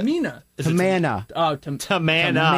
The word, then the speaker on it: Tamina: It It was Kelly, Kelly, and Rosa or or Kelly, Kelly, and Eve versus Rosa and Tamana. You said it wrong. Tamana, Tamika. Tamina.